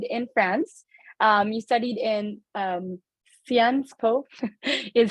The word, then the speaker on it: Sciences Po: I actually pronounced it as Sciences Po, even when I was already admitted that it was actually Sciences Po, and I was very grateful.